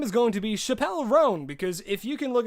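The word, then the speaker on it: Chappell Roan: It's pronounced Chapel Roan.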